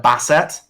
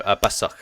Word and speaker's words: Basukh: Am I going to say it right? Basset, like the Basset Hound. No, Basuk. It is Basukh.